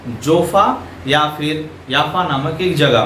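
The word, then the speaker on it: יפו: ये घटना घट रहा है जोफा या फिर याफा नामक एक जगह में। तो ये जो जगह है जोपा, इसको हिब्रू में प्रोनाउंस किया जाता है याफो, और आज के दिन में इसे जाफा कहा जाता है।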